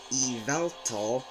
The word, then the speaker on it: Yveltal: and now we move on to Wal sorry eval which is another legendary Pokemon in the K region is known to be the destruction Pokemon this is how pronounce it evelt and it's known to be the 77th Pokémon